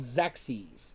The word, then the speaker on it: Xexyz: It's called Xyz. It's spelled Xexyz.